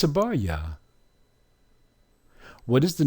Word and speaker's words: Abarya: And once we add the vowel at the end, because we're using Ya as a vowel, it's Abarya.